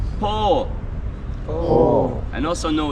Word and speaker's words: po: very easy yes in the Alban language is pronounced po po and also no it's very easy yo